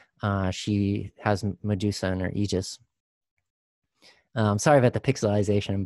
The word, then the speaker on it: aegis: spear she wears medusa's head on her aegis pronounced aegis so medusa is one of those figures again